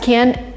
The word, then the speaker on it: can: cans in this sentence the first can is not even pronounced as can we say she can speak spanish it's that's it we even emit a and this is what native speakers do in weak forms she can speak spanish